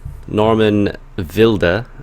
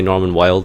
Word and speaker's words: Norman Wilde: I think is how you say it properly in German. Is that right? Yeah. Unfortunately. Or you guys can just say Norman Wilde because he's absolutely wild and mad.